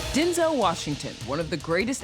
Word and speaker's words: Denzel: you and while you've probably been saying his name wrong this whole time my name's actually Denzel it is not yes